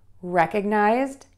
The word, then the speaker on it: recognized: So again, we're going to stress syllable one, and then we're going to make sure that we just add that D sound to the end of the word. So recognized, recognized, recognized.